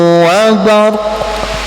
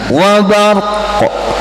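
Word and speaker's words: بَرْق: Au kasayyibin minas samaa'i fihi dhulumatun wa ra'dun wa barq. Nah, bacanya gimana? Wa barq. Nah, tapi jangan wabar doang, dia kopnya mana? Gitu kan? Wabar. Ya, tetap ada koknya itu ada.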